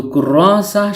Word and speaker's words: كراسة: তাননুন ব্যতীত শুধু কুররাসা শব্দটির অর্থ হল খাতা, নোটবুক ইত্যাদি। হারাকাতুন উচ্চারিত না হলে এই গুলতাটি বাংলার হ বর্ণের উচ্চারণ দেয়। তাই কুররাসা উচ্চারণ করেছি।